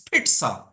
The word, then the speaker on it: pizza: of you said Pizza it's a t sound it's Pizza let me just show it